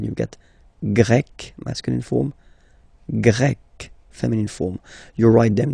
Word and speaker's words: grec: get Grec, masculine form, Grec, feminine form. You write them differently, but then, if you listen carefully, Grec, grec, you pronounce them the same way.